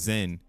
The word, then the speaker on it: XEN: In the Zen world, uh like you'll see XEN, but it's pronounced Zen.